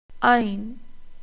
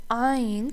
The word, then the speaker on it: ع: But Ain comes from the middle of the throat. How to pronounce it? Imagine you are gently tightening the middle of your throat while making sound. Don't force it. The sound should feel deep, controlled, and coming from inside the throat.